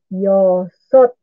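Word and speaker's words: 여섯: Okay, number 6 is yosot.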